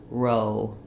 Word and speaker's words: row: sliding, start a little more closed and a little more rounded, row. Whereas when we say raw, ah, it's still rounded, but my jaw is more open and there's no slide. So even though there's two letters here, it's just one sound. And these two letters are spelling, it's one sound, but it's a sliding diphthong, o.